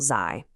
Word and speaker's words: 在: First, that initial zai. This trips a lot of English speakers up. It is not the buzzing zai you hear in the word zoo.